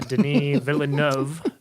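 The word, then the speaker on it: Villeneuve: the cinematography was great yeah it was uh Den vov is how you pronounce his name adopted a novel that's got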